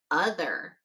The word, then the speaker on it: other: Our first word is other. Say other. Great job. Let's look at how it's spelled. The O at the beginning is making the uh sound.